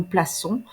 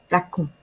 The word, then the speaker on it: plaçons: première personne plurielle, nous plaçons, on va mettre une cédille en dessous du C pour garder la prononciation S. Si nous ne mettons pas la cédille, on va devoir prononcer placon.